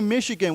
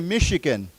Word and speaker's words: Michigan: Uh when we say Michigan, we do not say the ch is not ch, it's a shh sound. So we say Michigan.